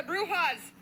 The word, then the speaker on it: bruja: You also got to say it right. It's the bruja. Bruja.